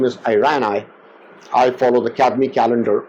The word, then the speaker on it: Irani: Now you will find a lot of last names as Irani, Irani. In India they call it Irani. I say Irani. It's I use a different pronunciation for that.